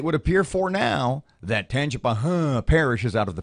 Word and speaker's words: Tangipahoa: Your buddy, the governor, was in town last night, and he supports the move to Tangipahoa.